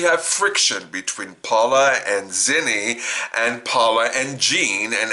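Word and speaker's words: Xeni: Dream Productions, Gene Dewberry, Nepo babies, her nephew, Zenny, that's spelled X-E-N-I, of course, into the position of Paula's assistant director.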